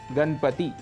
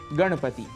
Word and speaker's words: गणपति: पर मनाया जाता है अक्सर वहां पर हम नकार के स्थान पर नकार का प्रयोग कर उदाहरण के लिए गणपति ऐसा उच्चारण कर जाते हैं इसका शुद्ध उच्चारण है गणपति इसी प्रकार कहीं-कहीं हम